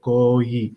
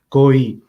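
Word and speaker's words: کوئی: said, "Isko lamba paro, koi." So the word is koi in Urdu, and I said it quite short, like koi, and I didn't prolong it. And Hazur said, koi, say it like this.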